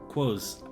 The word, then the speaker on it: quoz: And rhymes with Oz. Oh, I think I said that wrong. Is it cause?